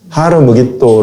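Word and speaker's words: הר מגידו: 아마겟돈 전쟁을 이야기라는 g 아마겟돈 이라는 것은 헬라어로 히브리어로 바꾸면 하루 우리 또 하루 무기 또 를 합쳐서 아마겟돈 이라고 헬라어로 는 그렇게 발음을 하는 거에요 하루는 산이요 무게 또는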